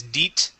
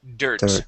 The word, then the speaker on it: dirt: And here you would pronounce that as DEET. Okay, this is dirt.